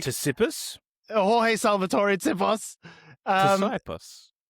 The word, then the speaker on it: Tsipos: Jorge Salvatore Tsipos. Tsipos. I say Tsipos, yeah, but I was making fun of the pronunciation.